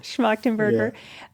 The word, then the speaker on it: Schmachtenberger: I always say his last name wrong. You can help me out. Schmachtenberger.